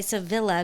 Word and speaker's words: Sevilla: to it but yeah or like Sevilla is Sevilla Spain but I refuse to say Sevilla because that just sounds like tortilla oh like it's supposed to be if you're in Spain the city is called Sevilla oh because there's it's yeah